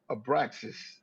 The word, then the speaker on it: Abraxas: I was saying, how you pronounce it? Abraxas.